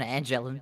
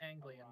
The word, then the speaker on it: Anglian: Harrison's also an Angelin. I mean, we're actually in alliance with Angela, so we're only trying to push into Mercantile and Pretty sure it's pronounced Anglian, but I could be mistaken.